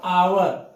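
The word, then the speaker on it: hour: यहां पे इसका उच्चारण होगा आवर। क्योंकि यहां पे एच साइलेंट है।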